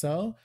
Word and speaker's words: Zou: We talked about this, and everyone agrees that it's pronounced Zo, but we thought that we like Zao better, so we might just do that. Can I just put out there that Zao is cooler?